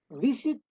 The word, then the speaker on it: visit: ¿Se dice visit o se dice visit? Visit. Pero la fuerza tónica está en la primera.